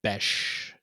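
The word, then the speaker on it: Bech: Um, I was on the Raiders Reddit thread and it is pronounced Bes.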